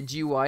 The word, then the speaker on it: GUI: this oh really I'm I'm pronouncing it wrong oh gee why are so you have to say gee why and say instead of saying GUI all right well you